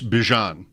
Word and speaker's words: Bijan: Bijan Robinson. It's not Bijan. Right. He wanted you to know. Okay. He's like, I know a lot of people say that, but it's Bijan.